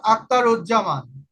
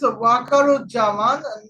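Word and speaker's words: Waker-uz-Zaman: Now here well uh let's find out who is Akarjaman. Oh I have forgot something. She is Wakaru Jaman. I have I miss mispelling I mean misp pronouncing that is Wakaru Jaman the Bangladesh army general.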